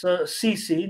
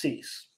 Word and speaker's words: CC: And that's CC, not pronounced Cease.